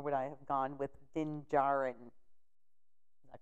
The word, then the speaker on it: Din Djarin: with him, or would I have gone with Din Djarin? Is that correct? Yep. Okay. He was picking on me on my pronunciation.